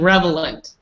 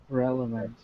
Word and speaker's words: relevant: right-wing same here so never say revelant I don't know why people say that's just how people